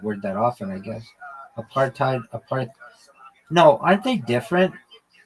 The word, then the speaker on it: apartheid: You mean a partid? Yeah. I mean that's the same thing. Why did you pronounce it? I've never heard anyone say that. I get it spelled like that. Hold on. Yeah, you're right. Well, am I not I know. Yeah. Apartheid. Aparttheid. Yeah, you're you're 100% right.